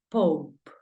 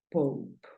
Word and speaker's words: pope: Lo primero que veo es que termina en E. Por lo tanto, la E no suena. ¿Y cuántas consonantes hay? Hay una P. Entonces la O ya sabes que suena O. Por lo tanto, papa, ¿cómo lo pronuncias? Dímelo. Muy bien. Pope. La pronunciación de papa es Pope. Sonido abierto de la O. Pope. Y la de final, pues ya sabes que no suena.